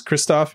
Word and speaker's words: Krzysztof: Now, I know that's not how you pronounce it in Polish, but you're saying you told me before the show that to your English speaking friends, that's how you say it, right?